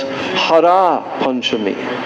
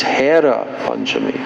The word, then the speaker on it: Hera Panchami: The coming of the goddess of fortune to Gundicha, it is celebrated as Hera Panchami, and sometimes this is misspelled as Hara Panchami, but it's not, it's Hera Panchami.